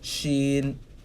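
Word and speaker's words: شين: has three dots above it's pronounced the same way but instead of an s sound as an sh sound sheen sheen sheen it's like your shin the shin but with the stretch on it she she the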